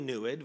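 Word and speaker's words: NEID: so I keep saying newydd to let me explain where that comes from the pronunciation is roughly newid rhymes with fluid it means to see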